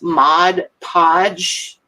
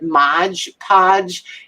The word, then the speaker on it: Mod Podge: And when people mispronounce Mod Podge and call it Modge Podge, that's one of them.